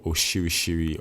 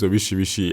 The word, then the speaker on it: orishirishi: to add all your oshirishiri or orishirishi, anyone you want to call it is fine. Actually, no, the actual pronunciation is orishirishi.